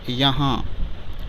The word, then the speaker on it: یہاں: ہاں۔ تیسرا لفظ ہے یہاں، ہجے اس طرح کریں گے: یہ زبر یا، ہے الف زبر ہا، نون غنہ ساکن، یہ ہو جائے گا یہاں۔ چوتھا لفظ ہے کہاں،